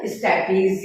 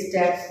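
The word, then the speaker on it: stapes: ध्यान रखिएगा, स्टेपीज ये स्टेप्स बोलते हैं, स्पेलिंग सही करना.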